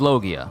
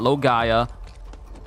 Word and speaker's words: Logia: And Logia is Logia. Not Logaya. Not Logia. With a strong G.